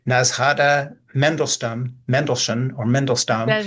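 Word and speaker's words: Nadezhda: Full of what the Russian Jewish writer and I can't pronounce this correctly Nazada Mendelstone Mendelson or Mendlestone Nazda it is.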